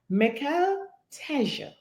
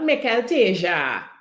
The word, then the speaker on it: Mical Teja: pronounce the name. So, ladies and gentlemen, Mical Teja Yeah. is his name, not Mical Teja.